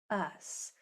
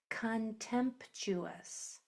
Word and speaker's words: contemptuous: Uh contempuous. Contemptuous. Don't forget the P.